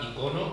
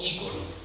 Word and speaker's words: icono: iconografía, que es la palabra icono o ícono, está admitida las dos pronunciaciones.